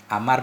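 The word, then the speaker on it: عمرو: band omben Amri asmanya Amar bin as karena kalau ada Wow bacanya Amar kalau enggak ada Wow bacanya Umar sebahagian darinya dari itu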